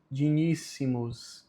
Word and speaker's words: dignissimus: Omni, gloria et honori dignissimus. Novamente o G com o N tem som de NH, então não é dignissimos, é dignissimos.